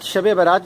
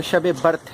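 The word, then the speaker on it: شب براءت: حال چال جانیے۔ ناظرین، ورڈ شب برات جو میں نے یوز کیا ہے یہ غلط العام ہے۔ صحیح جو اس کا تلفظ ہے وہ شب برت ہے۔ شب برت کا مطلب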